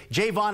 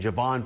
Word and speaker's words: Javon: by mispronouncing your name we've all been saying Javon for years what finally took it for you to say hey my name is Jayvon Jayvon nah I